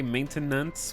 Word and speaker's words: maintenance: You say maintenance, which is right, but sounds off with more than 2 syllables.